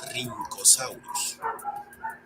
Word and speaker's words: Rhynchosaurus: Algo similar le ocurre a la RH, pues recibe una pronunciación con una R marcada, como la doble R del alfabeto escolar de antaño. Por ejemplo, tenemos a, que se lee como Rhynchosaurus, o al complicado, que se pronuncia como Rhamphorhynchus.